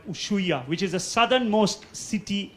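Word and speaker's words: Ushuaia: city called uh uh usua it's spelled as us h u i a usya now this is generally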